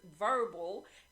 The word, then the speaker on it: Vurbl: and guys, brand new to this list is Verbal, and it's spelled VURBL, and also Luminary.